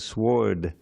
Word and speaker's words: sward: It's a rare word, but it has to rhyme with Lord, so I need something.